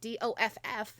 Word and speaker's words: doff: Okay, so before we put on headphones, it is Don Thine headphones to put on, and it's doff, D-O-F-F, not D-O-T-H, doff to take off.